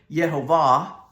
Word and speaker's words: Jehovah: That's the English pronunciation. I think in Hebrew it's more Yehovah. And it means the existing one or the eternal one.